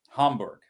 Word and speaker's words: Hamburg: Hamburg.